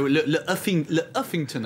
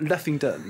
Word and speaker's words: Le Huffington: It's not Leffington. No. We could talk about the pronunciation for a long time, but the Le, I suppose, is what distinguishes it now as a French website.